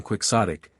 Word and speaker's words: quixotic: necessarily quixotic and 209 quixotic dear lady rhymes with idiotic no the other lady